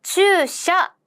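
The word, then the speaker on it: 駐車: 바로 주샤 였었습니다. 그래서 주차는요, 돼야 되잖아요. 그래서 우까지 된다고 한번 생각해 주세요. 그래서 차라는 한자는요, 우리나라 말로 차라고 읽는다면 일본어로도 샤라고 읽습니다.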